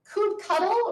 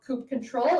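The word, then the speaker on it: kubectl: Coupe cuddle or sometimes pronounced coupe control is how you interact with your Kubernetes cluster.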